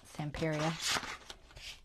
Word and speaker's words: Stamperia: from stamperia or stamperia I always say it wrong I've watched all of their lives I know it's stamperia but I always try try to call it stamperia for some reason but it's stamperia all right let's see what's